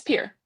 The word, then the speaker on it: Pierre: That's Oh, that's how you're supposed to pronounce that. That's You say it's Pier. Pier. Okay. Pier, South Dakota. Pierre.